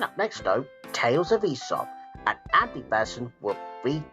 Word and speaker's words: Aesop: But right now on Children's GBC, it's time for the Tales of Aesop. Uh don't you mean Aesop?